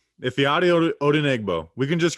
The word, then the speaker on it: Ifeadi Odenigbo: We're going to talk about, and I learned how to pronounce this guy's name. I'm never going to. Ifeadi Odenigbo. Ifeadi Odenigbo.